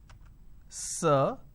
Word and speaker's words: sir: which is sir right now this particular word is pronounced as sir Oh now this o